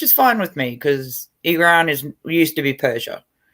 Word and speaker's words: Iran: used to be iran it's not pronounced iran it's pronounced iran yeah iran um yeah